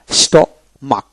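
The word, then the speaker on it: stomach: ক এভাবে উচ্চারিত হবে তারপর আসেন স্টমাক স্টমাক এস টি ও স্ট এম এ সি এইচ মাক তার মানে কি স্টমাক এখানে এইচ বাদ যাবে সি এর উচ্চারিত হবে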